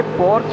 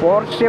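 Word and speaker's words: Porsche: यस पोर्स है, पोर्स, कुछ बंदे पोर्स बोलते हैं, कुछ बंदे पोर्शे बोलते हैं, पोर्शे ऐसे करके प्रनाउंस जो है वो डिफरेंट डिफरेंट करते, तो समझ जाना।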